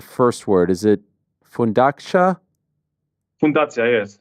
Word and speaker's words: Fundacja: Fundacja, yes. It's like foundation. Yeah.